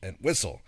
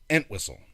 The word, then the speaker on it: Entwistle: Why are you putting the emphasis on the wrong syllable? Yeah, right. And Whistle. Everyone else I've ever heard say his name says Entwistle.